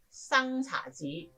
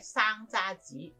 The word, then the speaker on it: 生查子: 呢首詩嘅詞牌生查子讀成生查子或者生揸子，其實都係可以接受嘅。